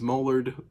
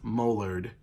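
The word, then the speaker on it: Mollardg: Well, when I asked him what his name was, he specifically said, my name is Mullard, with a G. The G is silent. M-O-L-L-A-R-D-G. So it's Mullard, and the G is silent.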